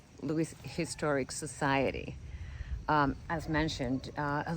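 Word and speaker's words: Lewes: um the house two of Lewis he's let me just say it right Louis Historic Society as mentioned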